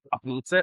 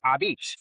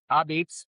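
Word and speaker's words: apizza: And I'm like, it's not a pizza, it's AH Beetz, but it's spelled like A. That's right. It's a type of pizza. It's New Haven style pizza. Wow. Cold fired pizza, AH Beetz.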